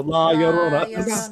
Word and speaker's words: La Llorona: you got to remember, give it that my Sharona, and that's how I now know how to say it because I go La Llorona.